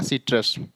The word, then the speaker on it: citrus: तो एक बार फिर से देखिए, सी का उच्चारण यदि सी के बाद AOU हो तो सी का उच्चारण क होता है, और यदि सी के बाद EYI हो तो सी का उच्चारण स होगा।